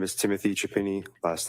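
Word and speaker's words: Chiapini: My name is Timothy Chapini. Last name is spelled C H I A.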